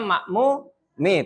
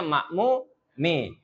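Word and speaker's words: المأمومِ: Kemudian al imamu amamal makmumi itu ya bacanya makmumi. Tadi ada sedikit ee kesalahan dalam pelafalan ya. Ini bacanya makmumi.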